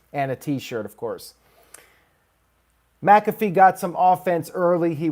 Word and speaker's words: McAfee: on here we had adam cole versus pat mcafee i finally got it right after all this